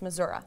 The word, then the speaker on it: Missouri: from Buffalo Missouri mm-hmm this is how you say it it's Missouri yeah at some point what